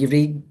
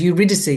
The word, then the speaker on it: Eurydice: Holst or Orpheus and Eurydice. Well, they say it differently now. It was Eurydice when I was at school, and now it's Eurydice, which is probably the correct pronunciation.